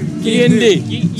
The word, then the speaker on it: Quiindy: They're telling me it's pronounced Quiindy.